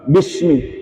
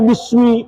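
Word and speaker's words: بسم: Nah, dia bacanya bismi pakai sod. Padahal mestinya baca sin, bismi pakai sin, bismi.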